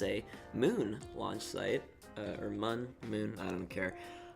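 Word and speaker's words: Mün: Because of the dots above the U, it should be pronounced Moon, but a lot of people just called it the Mun. I like Mun a lot more, honestly.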